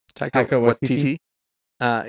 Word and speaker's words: Taika Waititi: How do you pronounce his name? Taika Waititi.